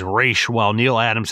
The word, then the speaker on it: Ra's: my only gripe is the pronunciation of Rachel Ghul I grew up with the animated series it's phonetically spells out here the version of race not Raz I know it's highly